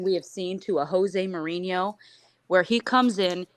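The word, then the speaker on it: José: when it's Portuguese, you pronounce the J, so that's my fault. When it's Spanish, you don't. Boom. So Jose Mourinho, you learn something new every day.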